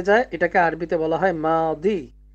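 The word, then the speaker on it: ماضي: এটাকে আরবিতে বলা হয় মাদি মিম আলিফ জবর মা দয়া জের দি মাদি এখানে এই যে বানানটা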